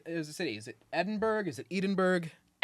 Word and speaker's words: Edinburgh: Is it Edinburgh? Is it Edinburg? Edinburgh. Edinburgh. Edinburgh. My brother was just telling me there's like more syllables than you think cuz it's not spelled bro.